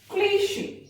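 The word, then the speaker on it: cliché: क्लीशे, CHE शा बन गया यहाँ पे, क्लीशे यानी घिसी पिटी कुछ।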